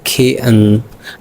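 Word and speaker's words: kitten: जैसे कि लफ्ज़ है किटन, तो हम इसको कहेंगे खेअन, हम कहेंगे खेअन खेअन, यानी इसमें टी साइलेंट किया और नाक से गुजारा नेज़ल साउंड, यानी खेअन खेअन।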